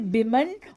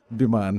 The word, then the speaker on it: विमान: इज इट बिमन और इज इट बिमान? क्या क्या है ये? विमान है वीना जी। I mean it rhymes with विमान। विमान अच्छा, so it's हवाई बिमान।